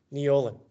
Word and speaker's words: Neolin: His name is Neolin, or Nowlin it's actually pronounced.